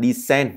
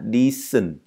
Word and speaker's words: decent: Và đây không phải decent mà đây sẽ là decent. Decent. Thậm chí đây là y dài cơ. Y dài một tẹo.